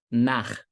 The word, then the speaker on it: Nach: CH em alemão, anota essa regra. CH, depois das vogais A, O, U, é um rasgadinho. Um exemplo aqui, ó. Nach.